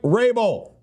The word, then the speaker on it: Vrabel: By the way, why do you have a V on your name if you're not going to pronounce it? You know what I mean? How are we supposed to know the V's silent?